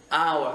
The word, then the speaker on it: hours: Ok, alors ensuite souvent beaucoup font l'erreur de mettre des hours, je rappelle que ce H là il ne se prononce pas, c'est un H qui n'est pas aspiré, beaucoup me mettent 3